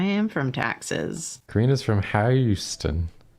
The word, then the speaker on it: Houston: There's a street in New York that's spelled like Houston, but we call it Houston.